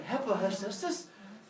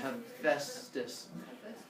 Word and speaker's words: Hephaestus: letters in the middle, what sound does a PH make? Yeah, like a telephone. You've seen this before. It's not Hephaestus. Why would you pronounce it Hephaestus? It's an F, Hephaestus.